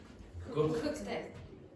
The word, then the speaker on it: cooked: in the vocal cords, then when you get the past form, the ed form, you pronounce it like t, t, t. So how do you pronounce that word? Cooked.